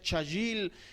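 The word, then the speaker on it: חַיִל: Es cajail, se pronuncia chayil, significa fuerte.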